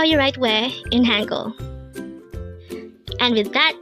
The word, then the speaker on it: 왜: This is pronounced as a one-syllable word. Pronounce it with me. WAE. WAE.